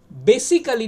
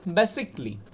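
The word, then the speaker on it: basically: আচ্ছা, তারপর দেখো বেসিক্যালি না বেসিকলি, আইটা অমিট হয়ে যাবে।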